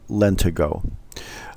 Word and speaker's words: lentigo: did we'd be correct another name for freckle is lent ego sometimes pronounced lent ago the definition of lent